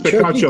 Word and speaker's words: Picacho: Can't Yeah, pronounce it. It's Picacho.